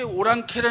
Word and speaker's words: 오랑캐: 사는이 지명에 여기 사는 올랑 아를 우리식으로 발음해서 오랑캐 이렇게 발음하게 된 거예 올랑 아가 오랑캐로 되는